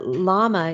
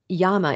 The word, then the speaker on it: llama: animals so um couple things about naming uh llama is a term that we're familiar with in English speaking the United States but Yama is how that's pronounced and uh wool is